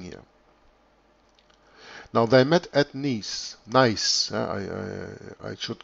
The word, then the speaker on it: Nice: Now it's called Nice. Or you can also pronounce it the French way, that is Nice.